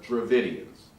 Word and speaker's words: Dravidians: However, almost everyone seems to believe that it was developed by a group of people called the Dravidians.